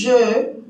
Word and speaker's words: je: Entonces, la E se pronuncia en este caso E, y je es exactamente como los argentinos o los uruguayos dicen yo, pero en ese caso, pero terminado en E o en E.